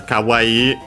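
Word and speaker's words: 可愛い: But yeah, after that she says kawaii.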